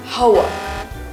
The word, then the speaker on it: hour: Remember to ignore the H sound in the beginning of this word, hour.